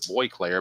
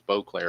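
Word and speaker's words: Bruce Boisclair: For the longest time, I pronounced it Boyclair, but then I was told it was Bclair a couple years ago.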